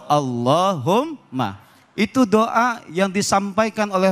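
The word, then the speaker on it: اللَّهُمَّ: Jadi enggak dibaca kulillahumma, tapi bacanya langsung Allahumma.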